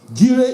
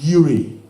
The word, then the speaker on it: Jireh: Jireh is pronounced as Yireh, and Jehovah Jireh means the Lord will provide.